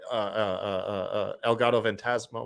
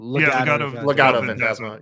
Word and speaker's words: Legado Fantasma: If you look, El Gato Fantasma, or I'm sorry, how do you say it? Legado Fantasma.